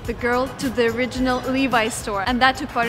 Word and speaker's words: Levi's: So now I remember that it's Levi's, but some people tell me that it's actually Levi's, so we're gonna go in and try to find out. How do you pronounce Levi's correctly? You said it was Levi's. Levi's? Yeah, so Levi's. It's not Levi's? No, it's Levi's. Because somebody tells me like the correct way would be Levi's because it's a...